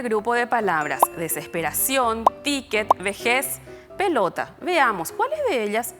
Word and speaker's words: vejez: ¿Qué pasa con vejez? Sonó fuerte en la última sílaba. Termina en Z, por eso no lleva tilde.